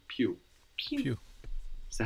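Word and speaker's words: più: Italian is more late the word for more is PE p i u Pew PE PE so how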